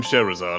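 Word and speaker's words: Scherazard: No doubt from Sherazade, I assume.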